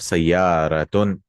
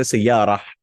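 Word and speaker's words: سيارة: Like, for example, you have sayyaratun. It's actually, if you stop, you'll say sayyarah.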